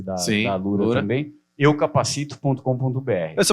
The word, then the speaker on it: Alura: É Alura?